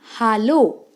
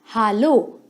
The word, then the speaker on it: hallo: First word is hallo. Please note the pronunciation very carefully. It's hallo, which means hello.